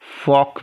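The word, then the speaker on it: folk: L silent है। मुर्गा को इंग्लिश में क्या कहते हैं? कॉक। तो जिस प्रकार से आप कॉक पढ़ते हैं ना, उसी तरह से आप फॉक को पढ़िए, फॉक, है ना, कॉक फॉक, ठीक है।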